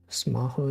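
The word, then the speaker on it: スマホ: Smaho is kind of fun. Yeah, smartphone. That's how they say smartphone. Cause like the way you pronounce the F and the H is the same in Japanese.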